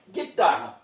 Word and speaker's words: guitarra: Então veja bem, guitarra, como é que a gente fala? Vamos colocar um G mesmo. Eu estou falando aqui agora, gente, a respeito do som. É claro que a letra é G, mas eu vou falar G, porque estamos trabalhando com a